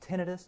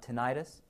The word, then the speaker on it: tinnitus: are ringing in the ears and it is pronounced tinnitus not tinnitus and then also headache and sometimes disorientation and